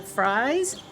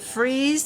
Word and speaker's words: Fries: People don't know how to pronounce the word freeze. It looks like fries. So, we say freeze in the winter and fry in the summer.